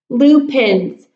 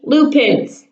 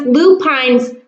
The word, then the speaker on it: lupines: pins repeat after me Lupin's okay because I found out that it looks like it should be pronounced lupines but it's not pronounced that way because I looked it up it's blue pins these are that pretty